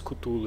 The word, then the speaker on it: Cthulhu: Acho que é assim que se pronuncia esse Cthulhu aí.